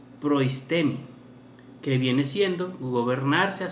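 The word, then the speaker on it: προΐστημι: La palabra gobernar que se utiliza en la palabra de Dios en Romanos, mis amados hermanos, Romanos 12, versículo 8, se pronunciaría en el griego proistemi, que viene siendo gobernarse a sí mismo como tener el poder para gobernar.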